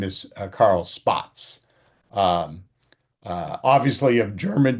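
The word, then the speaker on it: Spaatz: are um Half Arnold and this man Carl Spots, right? Which it's pronounced Spots like Spot Ts.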